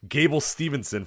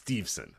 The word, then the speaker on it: Steveson: will say, it's actually this is how you pronounce it. But I say Gable Stevenson for an entire show and nobody cares. But it's Steveson.